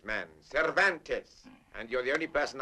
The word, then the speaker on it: Cervantes: Donkey Hoke by the Spaniard whose name is practically impossible to pronounce. Cvantes man. Cervantes.